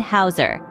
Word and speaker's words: Häuser: Moving on, u and ow are two diphthongs that share the same pronunciation. They sound like the English oi in boy. You'll find them in German words like Feuer and Hauser.